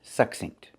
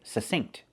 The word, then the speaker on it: succinct: Now back to succinct. This word actually has two pronunciations. Some people say succinct, and they pronounce that k with the stop K, and some people don't pronounce the K, they just say succinct.